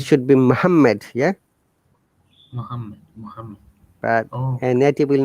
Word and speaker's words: Muhammad: Muhammad. But Oh, a native will not say Muhammad; they will say Muhammad simply.